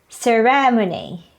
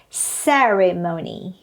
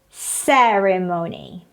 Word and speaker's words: ceremony: they pronounce this as ceremony ceremony but actually the stress is on the first syllable it should be pronounced as ceremony ceremony next word people pronounce